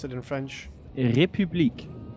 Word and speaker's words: République: République. Oof, jeez. République. Okay. République. It's like an U.